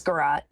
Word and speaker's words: garrote: I don't know exactly how to pronounce that. It's garrote.